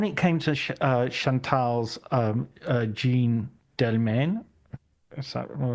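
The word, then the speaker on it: Jeanne Dielman: yet um when it came to chantal's um Jean delman is that correct pronunciation is is Jean Delan Jean Delon thank you there you go we're not going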